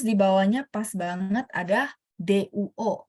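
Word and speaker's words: 多: Nah, terus di bawahnya pas banget ada duo. Duo bacanya tidak pakai angin, bener nggak?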